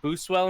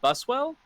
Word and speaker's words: Buswell: think that's more understandable i always give people crap when they say um when they say boost well instead of buswell uh so yeah i mean i get it it's all good i can't pronounce anything for anyway so is it not bruce well it's bustwell as far as i know if i'm wrong i've